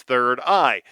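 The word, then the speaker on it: 3rd-I: It's called Third I, but it's spelled like this. The number three and then RD, a dash, and then the letter I. sounded out and it's third eye.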